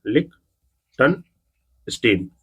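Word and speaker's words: Liechtenstein: इसको देखिए कैसे याद करना है आपको, लिक्टन स्टीन, जो कि 3 पार्ट में डिवाइड कर लीजिए। ये लिक टन स्टीन, इसको जो है कि ऐसे पढ़िए, लिक टन स्टीन, जो कि ये प्रोनाउंसिएशन हो गया इसका, जो कि बेसिकली मैंने आपको बता दिया है।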